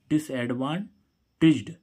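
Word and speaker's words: disadvantaged: तो इस जा का तो इसमें इस डी का उच्चारण क्या हो गया? जा हो गया।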